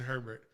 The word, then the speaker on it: Herbert: man justin herbert uh have you ever heard his name pronounced airbag or urber like the french way i'm not french so i can't i'm not gonna properly pronounce it but yeah apparently uh some people are out there where yeah this is justin or burr or bay and i'm just like it looks like herbert to me like that good restaurant